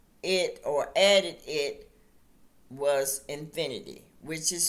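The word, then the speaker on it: Xfinity: They changed it or added it was infinity, which is spelled X F I N I T Y.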